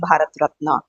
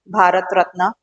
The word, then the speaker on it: Bharat Ratna: your Padma vibhushan padmabhushan bhat ratna we say it right Bharat ratna so and so it